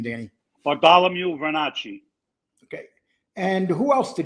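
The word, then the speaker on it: Bartolomeo Vernace: Bartholomew Vernacci.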